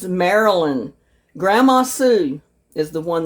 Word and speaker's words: Marilyn: And I pronounced her name wrong. It's Marilyn.